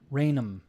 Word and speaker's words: Rainham: a very um and this rainham the h becomes silent and it's raynham raynham okay so um like